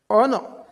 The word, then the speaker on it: honor: So in a honest honor our ab in this mentioned words H is not pronounced.